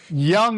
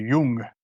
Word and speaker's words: Jung: It depends if you, use the pretentious German pronunciation. Jung is what you say if you're using the Americanized pronunciation. If you're using the Germanized, it's supposed to be Jung.